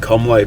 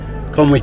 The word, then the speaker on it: Conwy: then head up to Conwy Castle. A lot of English people call it Conway, but I've looked on Tinterweb, and yeah, you don't pronounce it way apparently. And if you're from Wales,